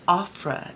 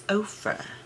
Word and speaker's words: Ofra: Uh, it's not Ofra, it's Ofra. So, I appreciate the person who took the time to let me know that.